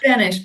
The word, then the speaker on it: Benesch: So I have one from Jane Benesch, who I'm presuming you might know, Sarah. It's Benesch, by the way. Benesch, sorry. That's all right. Stress on the first syllable.